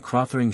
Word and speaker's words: Krothering: The E in Carcë is long, like that in Phryne, the O in Krothering short and the accent on that syllable.